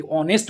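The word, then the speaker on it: honest: যেমন আমি যদি অনেস্ট বলি, তো অনেস্ট শব্দের আগে এইচ আছে কিন্তু এখানে অ্যান বসবে, অ্যান অনেস্ট বসবে। এর মানে হচ্ছে এর প্রোনাউন্সিয়েশনটা ভাইলের মতো হচ্ছে, মানে এইচটা সাইলেন্ট থেকে যাচ্ছে এবং ওর উচ্চারণটা আসছে, ওই জন্য আমরা অ্যান বসাচ্ছি।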